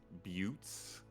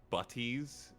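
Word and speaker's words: butte: hills and wide flat butes uh or buties if you want pronounce it the way it looks.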